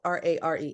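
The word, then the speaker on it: RAIR: And it's not spelled R-A-R-E, it's spelled R-A-I-R, RARE.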